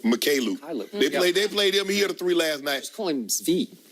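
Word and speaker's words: Mykhailiuk: Mikhailuk. Mikhailuk.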